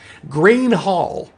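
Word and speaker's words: Gruene: second round of questions green hall was the legendary place where all the fantastics played from jerry jeff walker to garth brooks to sarah hickman it's spelled n g-r-u-e-n-e if you didn't answer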